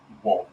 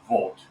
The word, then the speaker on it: Wolt: In 2022, they did the same for Wolt, or Volt, might be how you pronounce that because it's Finnish, for $8 billion.